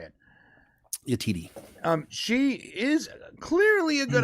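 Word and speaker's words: Yetide Badaki: Yatiti Bataki. Thank you. The actress that played Nira, Latiti. I'm not gonna be able to pronounce that name. You just heard him say it. Yatiti.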